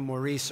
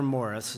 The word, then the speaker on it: Maurice: answer to maurice or morris it doesn't really make too much difference but my friends in chicago and boston would say i pronounce it the irish way so i i go with morris most the time so